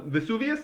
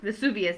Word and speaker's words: Vesuvius: because of the eruption of mount i cannot pronounce this very well but mount macias i think uh vesuvius vesuvius there we go so mom vesuvius erupted in